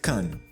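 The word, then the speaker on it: כַּן: Change the tzere to patach and you get kan, which is a base or a pad like in launchpad. So without nikud, it can be read also as kan.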